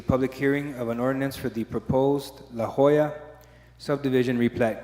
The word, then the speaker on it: La Joya: Am I pronouncing that right? La Hoya or La Joya? La Joya.